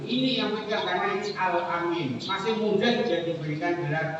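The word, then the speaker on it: al-Amin: yang pegang karena ini alamin masih mudah dia diberikan gelar alaminnya orang yang dipercaya tapi a-nya pendek alamin seorang yang bisa dipercaya tapi kalau Amin itu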